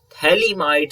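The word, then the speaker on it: phthalimide: preparation reaction is gabriel thaliamide synthesis if you will see here ph is silent in gabriel synthesis okay gabriel thalam thalamites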